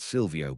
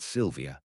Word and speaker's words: Sylvia: And it's not Silio, but Sylvia. Oh, Zeit pursed his lips.